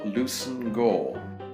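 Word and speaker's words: Leveson-Gower: It's actually pronounced Granville Lucen Gore.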